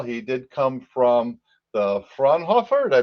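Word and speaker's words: Fraunhofer: So, um, just a little bit of background as far as Marcel, he did come from the Franhoffer. Did I pronounce that right?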